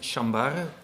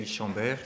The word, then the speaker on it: Chambaere: I am Chambaere, but in English you can say Chambaere. That's also a bit better to pronounce it that way.